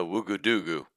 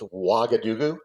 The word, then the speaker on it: Ouagadougou: I think this is a Ouagadougou.